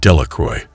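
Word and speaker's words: Delacroix: Jones and Dicky delacroy the villagers pronounced this name delacroy eventually made a great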